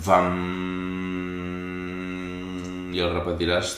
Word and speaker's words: Vam: i la seva vibració s'escriu B baixa, A-M, i es pronuncia VAM, i el repetiràs 3